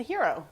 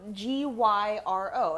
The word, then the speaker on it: gyro: just call it a hero a hero well sure that's that's what it is what's heroic about it no g-y-r-o a hero that's the word that everyone thinks is pronounced gyro well the thing that